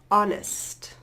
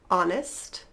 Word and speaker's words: honest: some subtle great alright let's move on to the silent H and this one French speakers beware all right starting off we have honest herb this is of